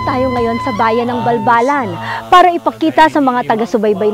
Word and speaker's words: Balbalan: l ganag so it came out to be pronounced balbalan napianchatong siun elinchi kaanusan on gimpong sa wigang pilipino pamayanan ng pinakamapayapang mga katutubo o indigenous people.